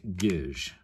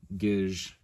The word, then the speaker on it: Gisg: English, and the Enochian equivalent of that is gij. So it's spelled G-I-S-G. If you know, transliterate Enochian letters to English letters, but it's pronounced gij. Okay, so letter T, gij.